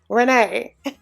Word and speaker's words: Rayne: You guys, I hate that her name is spelled like Rayne. It does something to my brain when I have to be like, Renee.